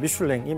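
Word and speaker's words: Michelin: 미슐랭 타이어 회사를 설립합니다 영어로는 뭐 미인이라고 발음을 하는데 프랑스 발음을 따르자면 미슐랭이 맞고요서 미슐랭 타이어입니다 근데 이거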